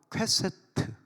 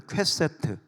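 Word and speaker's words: קשת: 자, 그런데 성경적으로 좀 영적으로 조금 더 이렇게 보면 이 활은 히브리어로 퀘세트. 한번 따라서요. 퀘세트. 다시 한번 퀘세트. 좀 발음이 이상합니다.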